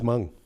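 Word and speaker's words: Meng: Okay, Miss Mung. Chairman Sammon is one of the few people who pronounce my name according to Chinese tradition and it always throws me off.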